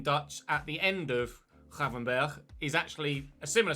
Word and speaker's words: Gravenberch: Like Marco van Ginkel, it's Gravenberch. And I would have said, obviously in English, Birch. But the CH apparently in Dutch at the end of Gravenberch is actually a similar